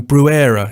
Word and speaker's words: Bruere: is it is um brewera is that right that's that's close enough um originally in French it was Breer you go back far